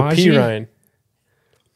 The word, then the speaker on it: Samaje Perine: Samaje Is it or Samaje? Perine? Perine. How do you pronounce it, Jordan?